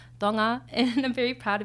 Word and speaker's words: Tonga: It's pronounced TOHNG-uh — I say TAHN-guh because it's like the American westernized way to say it but it is TOHNG-uh and I'm very proud to be Tongan.